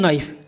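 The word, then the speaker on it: knife: क्या होता है के नाइफ हम इसको क्या बोलते हैं नाइफ एन आई एफ के एन आई एफ को हम नाइफ बोलते हैं जिसका अर्थ होता है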